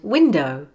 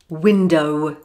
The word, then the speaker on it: window: and last of all there are words with the letter were at the end of the word but the word sound is silent for example saw rainbow now below and window don't say below window saw so normally speaking do not sound the wor at the end of the word unless it is followed by